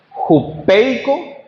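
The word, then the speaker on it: ὑπείκω: Sujetados del griego su pronunciación es jupeico.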